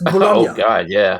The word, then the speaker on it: Bologna: I mean, I was thinking the most aggressive one is probably Bologna. Because it's just Bologna.